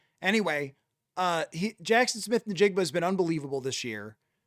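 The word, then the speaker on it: Jaxon Smith-Njigba: a hor a historic year and it is pronounced for the jackass on the NFL awards Jackson Smith Nigba.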